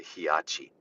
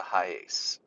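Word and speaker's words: Hiace: I was like, oh, you mean the high ace? Yeah. So for some reason, I don't know where he got that, but he was calling it the Hiachi. No, Brian, it's the high ace.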